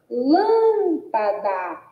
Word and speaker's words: lâmpada: Automaticamente, a gente já percebe, não é? Que a sílaba lã é a sílaba pronunciada com mais ênfase. Então, é a sílaba tônica. E diante da sua localização, a gente já descobre que é uma palavra proparoxítona, porque a sílaba tônica é a antepenúltima sílaba.